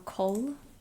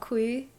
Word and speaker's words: Cole: I think I was reading your name wrong Cole not Qui um I have terrible